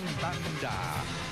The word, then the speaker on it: Banda: the Cal Aggie Marching Banda. The unique moniker comes from an announcer who they thought overpronunciated the word of band to sound like banda.